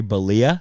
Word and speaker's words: Bollea: I didn't know Balia was the last name.